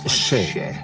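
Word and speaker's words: še: Le mot orge en sumérien se prononce chet.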